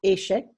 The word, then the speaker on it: échecs: do you pronounce the C at the end? Pronounce the C at the end. So it's échec, I can't hear you.